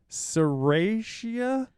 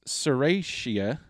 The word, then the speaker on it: Serratia: dispersed uh oh gosh here we go oh serratia serratia that sounds right i'm sure i'm butchering